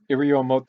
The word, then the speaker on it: Iriomote: Iriomote is pronounced exactly how I just said it. It's Japanese. It's one of the islands of Japan.